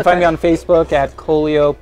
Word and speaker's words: Kolio: No, he's not Coolio. It's Kolio.